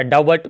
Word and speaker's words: doubt: यहाँ पर जो है वो बी साइलेंट होता है, बी के बाद, अच्छा आप गौर करके देखो ना, DOUBT, क्या डाउट पढ़ते हो, नहीं ना, डाउट ना, तो इसी